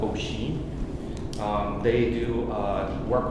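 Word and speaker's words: OHEA: company is ocean but it's spelled o H EA people call it oi um they do uh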